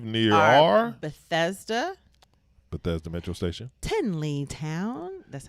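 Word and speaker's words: Tenleytown: stops to live near are Bethesda Metro Station, Tinleytown, that's how they say it, Tinleytown, and Friendship Heights.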